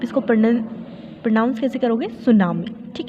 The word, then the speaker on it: tsunami: वह बेटा चुनाव में इस वर्ष पहले मिट्टी साइलेंट है आप इसको पौन इंच कैसे करोगे सुन मिर्ची है सुनामी इस जैपनीज़ वर्ड जो सुनामी बट